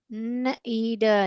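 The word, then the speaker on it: knead: नीड नीड, यहाँ पर देखिए ये के जो है साइलेंट है।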